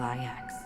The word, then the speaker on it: IX: One of the thousands of manifestations of IX.